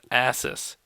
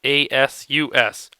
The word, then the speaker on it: Asus: that I use is an asys ASU or Asus I believe it's pronounced that is that is